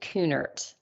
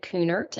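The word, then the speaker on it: Kuhnert: journey through the book servant leadership by David coonert if you're just joining us for the first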